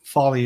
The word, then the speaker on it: Foley: um the last uh the e at the end of my name is uh e i i a lot of people have trouble pronouncing that it's uh like porsche has an e at the end porsche fale but folly is how i say it so a lot